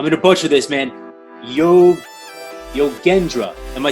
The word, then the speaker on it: Yogendra: But Yogendra is my last name. It's a hard G.